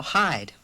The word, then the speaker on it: hide: the word hid anymore thanks to the silent E over there that word is now hide hide yeah that silent